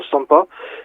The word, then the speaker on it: CIMPA: Y aparte de eso, pues he participado, hay un programa de la Sociedad Matemática Francesa que le llaman CIMPA, o sea, ellos pronuncian SOMPA, pero es un programa